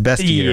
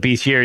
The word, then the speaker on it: bestiary: dig into the bestiary it always looks like beastiary to me but it's pronounced best year yeah I I call it Beast year even though I kind